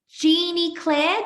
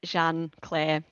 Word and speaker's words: Jeanne Claire: We've got Jeannie Claire. Did I pronounce that right? Jean? It's Jeanne Claire, but I tend to go by because it is a little bit hard to say.